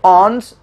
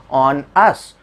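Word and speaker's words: onus: तो ऑन्स जो उसका सही प्रोनाउंसिएशन है, याद करने के लिए मैंने क्या कहा, याद कराने के लिए मैंने क्या पढ़ दिया, ऑन अस.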